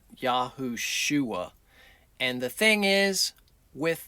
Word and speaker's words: Yahushua: And we do know it is a shua name, not a sha name. So, we come up with Yahushua. Yah sa- Yah saves. Not Yahusha, but Yahushua.